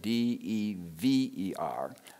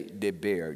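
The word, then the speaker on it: דבר: it's there there in fact in the Tanakh it's their de ve R however since the Strong's Concordance and 1698 and most lexicons or dictionaries will say deber de ber so we'll use that pronunciation d eb e r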